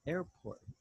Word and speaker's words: airport: Remember, the I doesn't sound. Listen to Mark pronounce the word. An airport. Okay, one more time. Air. Airport. Like when we're going to say Ernesto. Airport. Airport. There you go. It's the same sound.